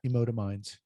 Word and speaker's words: Emotiminds: Emotominds. Emotominds, it's like emotion and minds together.